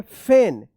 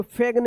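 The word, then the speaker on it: feign: इसको फेग्न या फिग्न मत पढ़िएगा। इ आई यहां पे है। तो रूल्स में था कि इ आई होगा तो इ उच्चारण होगा। लेकिन यहां पे ए उच्चारण हो रहा है। क्या होगा? फेन पढ़ा जाएगा।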